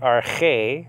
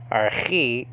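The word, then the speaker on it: ἀρχή: we'll get into that there are two different ways of saying this that i'll bring up okay are hey that's the biblical pronunciation our he is the modern pronunciation well what does rk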